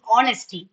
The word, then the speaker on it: honesty: It's honesty. H is silent. Okay. It's honesty, not honesty.